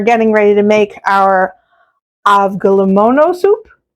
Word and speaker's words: Avgolemono: Okay, so here we are in the kitchen, and we're getting ready to make our Avgolemono soup. Did I say it right? Yeah. Kind of, sort of. Avgolemono.